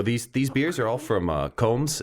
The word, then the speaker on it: Komes: So these beers are all from Combs. Is that how we pronounce it? Combs, yep. It's Komes.